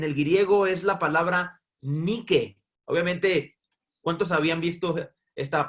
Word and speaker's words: Nike: Mi esposa es gringa y ella dice, no se dice Nike, es Nike.